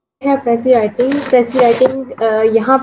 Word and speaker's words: précis: उसके बाद इसको प्रोनाउंस करने का तरीका ये है कि एंड पे जो एस है वो साइलेंट हो जाता है, ठीक है।